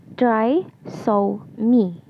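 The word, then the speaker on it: trisomy: second one is the triom the correct pronunciation for this is TR so me involves the presence of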